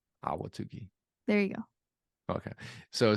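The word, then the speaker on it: Ahwatukee: awatukee backslash carpet cleaning is it awatuki it's awatuki it's just you don't have to over pronounce any of the syllables awatuki there you go okay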